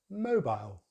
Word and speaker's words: mobile: So in British English it's mobile, mobile.